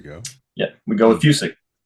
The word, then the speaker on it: Fucik: It's technically pronounced Fucik. Fucik. But it kind of, a lot of people don't get that. So Fucik's just kind of how it's been kind of Americanized over time.